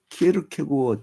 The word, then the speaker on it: 키에르케고어: 그 기독교 실전주의 철학자인 키에르케고어 때문에 키에르케고르가 아닙니다 키에르 케고 그 이제 덴마크 발음으로이 사람이 이제 1813년 나왔고